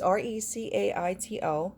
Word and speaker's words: Recaito: It's Recaito.